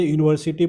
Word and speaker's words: university: He is a university professor. So see, the word university starts with vowel letters, but the sound is y.